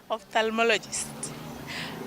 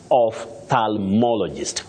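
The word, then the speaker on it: ophthalmologist: and you can realize what is a bit tricky is whether that L is silent or not when you're talking about an i specialist somebody who diagnoses and treats eyes you say opthalmologist opthalmologist and so many people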